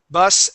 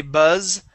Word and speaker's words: bus: be bus okay bus bus and us you would not say buzz and us okay that would be bus and us okay but if you